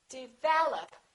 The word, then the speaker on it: develop: a lot of people develop second syllable is stressed this is reduced this is reduced develop once in a while